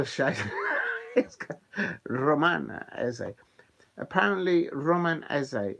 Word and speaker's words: Eze: Apparently, Roman Eze, his surname, is pronounced the way as if you were doing an essay for your university lecture. So the way you pronounce that, I'm doing my, I don't know, 5,000 word essay on this subject. That's how you will say it.